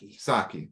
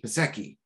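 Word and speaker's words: Psaki: Saki. Thank you. I keep mispronouncing it. Pasecki.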